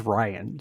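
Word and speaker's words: Rian: ryan's a she but r-i-a-n i pronounce as ryan like ryan johnson acclaimed director of of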